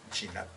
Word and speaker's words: chinap: Se dice chinap. Chinap. Chinap, así se dice marimba en mam.